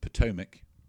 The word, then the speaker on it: Potomac: Potomac is actually pronounced Potomac.